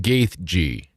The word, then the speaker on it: Gaethje: Let's see how they are looking at how to pronounce the MMA fighter of the Union Safety record, Ferguson. Justin Gaethje. Justin Gaethje is what this Julian McKell says.